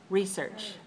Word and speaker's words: research: to one right so if you listen to me say research research how am i saying it watch me watch me research research i'm saying it 2-1 but it's also possible to say research research two too so both of them are correct both of them are